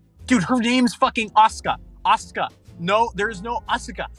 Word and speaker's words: Asuka: The U kind of is pronounced, but it's very subtle.